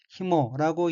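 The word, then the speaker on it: 紐: 다음 어휘는 한자가 맺을 유자이고 일본어로는 히모라고 읽으며 히모는 끈이란 뜻입니다.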